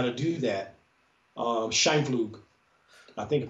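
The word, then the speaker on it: Scheimpflug: Scheinflug, I think I pronounced it correctly.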